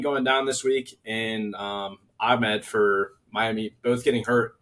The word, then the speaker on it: Ahmed: It's Ahmed, not Ahmed. That's not how you say it.